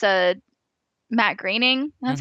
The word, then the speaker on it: Groening: Although I feel like that kind of makes sense because I know that it's a Matt Groening.